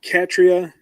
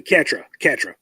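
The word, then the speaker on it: Catra: Also, arguably, Katria is going to be your favorite character because she has the best story arc. Oh, yeah? Excuse me, Katra, yeah. I keep wanting to add that extra syllable.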